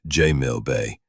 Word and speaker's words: Jamil Bay: I obliged, but my mission was with Inspector Jamil Bay, pronounced J Mill Bay, who'd promised access to Thorn's effects at the police station near Sultanamett Square.